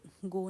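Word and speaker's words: Gough: JW गो ने किस लिखा था, ये वैन गो टाइप का प्रोनाउंस होगा।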